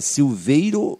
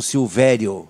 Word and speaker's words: Silveiro: então temos uma curiosidade a pronúncia correta silveiro o silvério é silveiro não tenho que o